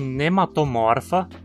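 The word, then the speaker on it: Nematomorpha: Em nematomorfa, a penúltima sílaba agora termina numa consoante e, portanto, precisa receber o acento.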